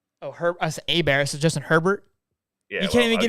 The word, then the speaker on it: Herbert: Oh, us A-Bear, so Justin Herbert? Yeah, you can't even get his name right. You lose points. You lose points there. Is how you would pronounce it in like French. It's A-Bear.